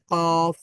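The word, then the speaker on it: قاف: জিহ্বার একেবারে শেষ ভাগ জিহ্বার একেবারে শেষ ভাগ উপরে নরম প্যালেটে যোগ করতে হয় মানে এখানে টাচ করতে হয় তখন কি উচ্চারিত হয় কফ তারপরে আমাদের জিহ্বার গোড়ায়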